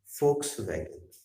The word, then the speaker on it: Volkswagen: ये दूसरे देश का शब्द है, इसलिए इसमें लेटर कुछ और है लेकिन उच्चारण कुछ और पता है। फोक्स वैगन हिंदी में हम लिखते हैं। और स्पेलिंग कहाँ से शुरू होती है? डब्ल्यू से शुरू होती है हाँ, लेकिन बोलते फोक्स वैगन।